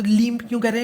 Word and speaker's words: LEMP: तो लनम्प जो है थोड़ा अजीब सा लगता है सुनने में, ठीक है, और कहने में, इसलिए लीम्प कह देते हैं।